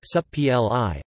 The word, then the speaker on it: Supplì: Supplì, pronounced supp-l-i, Italianization of the French